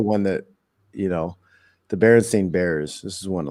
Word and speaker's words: Berenstain: lovable cartoon bear family actually spared their last name with an a Berenstain like I always remember them being pronounced the Berenstein bears I always thought was